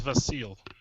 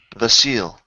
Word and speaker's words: Vasile: My name is Vasile. Vasile. I'm going to spell it the same as Facile, but a V instead of an F.